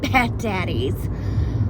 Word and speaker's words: Bad Daddy's: something called bad daddies Bad Daddy's you have to say it like that bad daddy for lunch